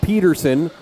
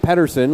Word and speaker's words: Pederson: It is Matt Pederson, not Pederson. Like, it's spelled like Jock Pederson, so it's pronounced like Pederson, even though we have Jess and Andrew here.